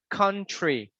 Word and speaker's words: country: Even the plants, you don't say three. It's like tree, country, country.